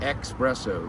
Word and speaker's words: espresso: People say what and it's not espresso. There's no X in it.